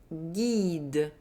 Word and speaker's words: guide: The letter U is not pronounced. It's simply there to maintain the hard G. So each time you see the letter G and U together plus a soft vowel, I or I, G and U are going to be pronounced G, as in une bague, un guide.